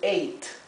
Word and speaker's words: ate: La última E es muda, ¿bien? Generalmente la E en inglés, cuando la E viene al final de una palabra, ¿sí? Es una E muda, así que no se pronuncia. Así que esto se lee eight, eight, ¿sí? La misma pronunciación tiene que la palabra eight, que significa ocho, el número ocho, ¿verdad?